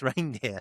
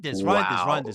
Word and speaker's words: Reijnders: You told me the guy's name's Reindeer, so okay. I'll be respectful. That was off screen, innit? At least say it properly on screen. All right, fine. Reindeers. We'll go My with bad. reindeers. I'll take it back. Reindeers. Carry on. Okay. I mean, Reijnders.